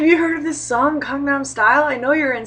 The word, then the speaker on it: Gangnam: like please sit down let me explain this pronunciation to you Kong n Kong n Kong n Kong Nom Kong n Kong not gang n um and some of my